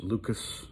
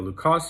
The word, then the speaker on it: Lucas: L U C A S. Some people refer to it as Lucas or Lucas numbers. Uh the guy was French, so I'm pretty sure it's pronounced Luca, but whatever.